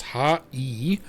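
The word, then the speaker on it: はい: So, the word hi actually is pronounced ha e. Uh but since Japanese is a language spoken at a rapid pace, the syllables tend to merge. Right? So it's saying instead of saying hi, just say height, shorten.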